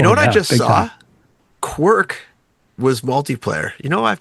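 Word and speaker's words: Kwirk: K W I R K. Oh, quirk.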